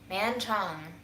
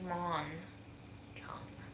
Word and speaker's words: Mon Chung: So, the person that I've been saying the name wrong all along, Man Chung, is actually Mon Chung.